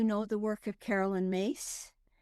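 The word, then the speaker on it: Myss: Her her last name is spelled M YSS, but it's pronounced Mace.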